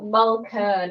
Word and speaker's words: Mulkern: I should have asked her how to pronounce the last name before we got going. Sorry. It's Mulkern.